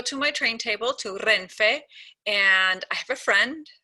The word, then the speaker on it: Renfe: So I'm going to spell it twice. So the name of the Spain National Train Company is R, E, N, F, E.